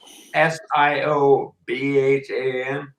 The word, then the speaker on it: Siobhan: Siobhan is like SIOBHAN.